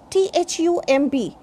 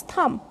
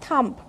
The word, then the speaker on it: thumb: Next, THUMB. This is thumb, not thumb.